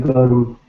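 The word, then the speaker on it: गरम: So if I just say gur, if I want to just write gurm, gurm, there is R sound before the consonant.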